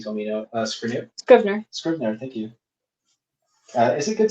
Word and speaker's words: Scrivener: All right, another question is, I don't know how to pronounce this word. You told me no. Scrivener. Scrivener. Scrivener, thank you.